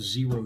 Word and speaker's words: Xero: worn a lot of zero shoes over the years if you're not familiar with them x0 spelled with an X pronounced I think zero so they gave me